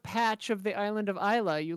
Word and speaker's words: Islay: So it's like Islay, ISLAY I think.